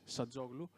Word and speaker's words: Hadzoglou: Actually, my name is Hadzoglou. It's a Greek name, so you cannot pronounce it very well. It's Hadzoglou.